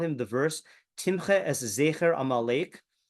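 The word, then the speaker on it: זֵכֶר: the verse Timche es Zecher Amalek, with the letter Zayin pronounced with a Shva and the Kaf with a Ptah. So Timche es Zechar Amalek, okay, which would mean you should kill all of the male Amalekites.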